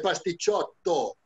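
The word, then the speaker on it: pasticciotto: No, pastichotti. Bueno. Uno es pastichotto. Sí. Termina con O, es pastichotto. Si son varios, son pastichotti. Ah, ok.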